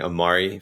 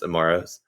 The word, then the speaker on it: Amari: So I really appreciate you saying Amari for the plural of Amaro rather than just Amaros.